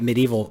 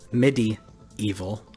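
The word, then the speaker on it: MediEvil: also got medieval sorry I've been calling it medieval my entire life yeah and they pronouncing it medieval MIDI evil I was like oh okay I get it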